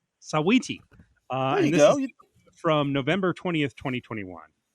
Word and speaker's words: Saweetie: I thought it was Sweetie, but it's Sawy. Is that right? Yeah. Sawiti. Sawiti.